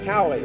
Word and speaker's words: Hallie: You know Miss Lene, she's been at the last two live shots, and we have joining us Miss Hallie. Her name rhymes with mine.